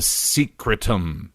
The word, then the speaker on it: secretum: which is called the secretum so this is like the secretum but it's spelled secret um secretary secret um so that's the black